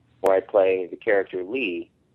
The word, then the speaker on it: Lea: I play the character Lee, even though it's spelled Lea, it's pronounced Lee, and that's kind of a precursor to Axel, but it is Axel.